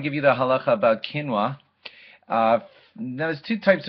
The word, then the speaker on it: quinoa: not recognize its spelling it looks like it's quinoa Qi n o a quinoa we all pronounce it quinoa and it's a type